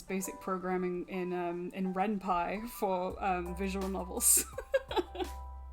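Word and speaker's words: Ren'Py: i i my um when i first discovered renpi as a kid my friends and i mispronounced it as renpe for the longest time senpai is genius should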